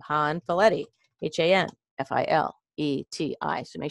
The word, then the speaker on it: Hanfileti: works calm and you're gonna hit /my name han valetti Haan file2 I so make sure you spell that right Haan like Nancy f like friend